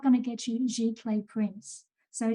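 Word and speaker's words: giclée: going to get you g clay prints so g clay print is spelt g i c l e e and that just means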